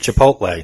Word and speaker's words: Chipotle: Chipotle.